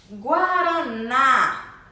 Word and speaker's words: guaraná: Guaraná. Guaraná. O na é a sílaba tônica, é a sílaba mais forte dessa palavra, com som aberto também. Também possui acento agudo.